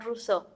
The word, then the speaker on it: Rousseau: como sus demás nombres nada más pongan ruso recuerden que se escribe rousseau para que no me